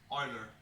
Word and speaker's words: Euler: you're an English speaker you probably want to pronounce it you can say oil oiler on a greatest mathematician in the world Marty